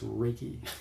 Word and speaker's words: Reiki: It's not Reiki. It's Reiki.